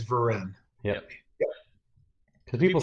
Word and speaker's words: Viren: The name is Viren, Viren. That's how it's spelled, and it's Viren.